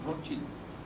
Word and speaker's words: Rothschild: Me dice, no, es Rothschild, porque somos de origen alemán, que quiere decir escudo rojo. Bueno, yo no voy a cambiar a la población mundial para que digan Rothschild, porque todo el mundo dice Rothschild.